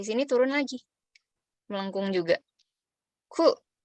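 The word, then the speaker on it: く: Ku. Cara bacanya ku ya. Nah, terus ini kalau misalnya dikasih dakuteng, maka cara bacanya jadi gu. Jadi kalau ini aja, ku.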